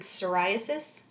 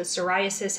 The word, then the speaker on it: psoriasis: Just note the spelling. It starts with a silent P. So psoriasis has those silvery scales.